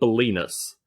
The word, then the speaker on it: Bolinas: And that place is called Bolinas. And it rhymes with penis for a reason.